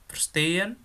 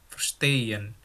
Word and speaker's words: verstehen: Di sini ada kata verstehen, stehen, spülen, denken, sagen. Oh ya, jadi kalau kalian ketemu EH di tengah-tengah kata, itu kamu baca kayak EY gitu ya. Verstehen. Bukan verstehen, tapi verstehen. Stehen gitu ya.